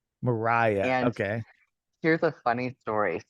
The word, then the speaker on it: Mariha: parents to thank for that um it is Mariah Mariah okay here's a funny story so I met